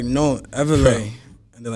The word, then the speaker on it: Evela: Everlay. That's how you say his name. Yes, it's Everlay as in like revelation.